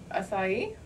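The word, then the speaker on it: açaí: And let me ask you this: how do you pronounce that word right there? Acai. Okay, you're hired. You've done it right.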